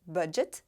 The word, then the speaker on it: bandit: diferença de pronúncia importante entre a palavra Bandit em inglês e em francês a sílaba forte é a última vídeo não se pronuncia se tem no final porque a regra diz